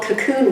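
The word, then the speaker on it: Kaqun: water that they have called cocoon water but it's spelled k-a-q-u-n water and it comes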